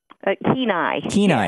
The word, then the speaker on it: Kenai: Is it called the Kenai Peninsula? Kenai.